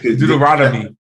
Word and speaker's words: Deuteronomy: called Deuteronomy is that how you say it Deuteronomy there you go see what I let you